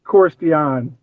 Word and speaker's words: Korstiaan: It's Korstiaan, but I go by Kors. So so Kors Dion or no, Kors Tian. Korstiaan.